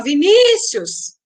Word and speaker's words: Vinícius: Então, a sílaba que se prolonga é ni, Vinícius. Então, a penúltima sílaba é a mais forte, portanto, é uma palavra paroxítona.